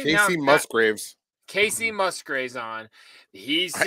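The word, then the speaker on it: Kacey Musgraves: So Howard Stern had Kelsey, you guys say her name, Musgrave? Casey now, Musgraves.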